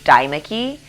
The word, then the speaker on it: Deimeke: My last name is Deimeke, and so my full name is Deimeke, and that still gets butchered a lot, but that's okay. It's the E and the I are kind of weird, so I understand, and I'm not offended.